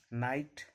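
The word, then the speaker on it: know: अगर के बाद एन लगा रहेगा तो के साइलेंट होता है। नाइट, नो, नी।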